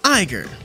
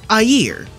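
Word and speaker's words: Aegir: say like a hypocrite number seven eiger or as it would correctly be pronounced a year you ever notice how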